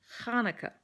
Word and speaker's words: Hanukkah: and then there's the Hebrew letter that says Ch. So it's Hanukkah. You know, like you've got phlegm in the back of your throat that you're trying to dislodge.